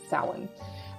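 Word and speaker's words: Samhain: and it's called Salad I'm going to spell that for you s-a-m-h-a-i-n and um I know for English speakers in spelling it doesn't seem to match but just trust me on this one you pronounce it sound and this is actually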